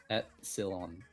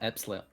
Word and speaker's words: epsilon: except enlightened um epsilon because i can't ever pronounce it wait at silon oh epsilon wait what i'm getting some some words here on absolute cylon epsilon okay this is going to